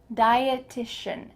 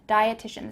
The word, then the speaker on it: dietitian: medical category is dietitian diet is the root word here dieteon dietitian dietitian this is someone who